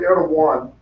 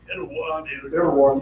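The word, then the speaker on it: Erdoğan: And he would be I think you pronounce the guy's name Erdogan. Erdogan.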